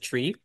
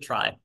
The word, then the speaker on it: trie: So just as a quick uh historical aside uh this is uh the word try is short for retrieval tree. So technically uh the original inventor said that you should pronounce it tree.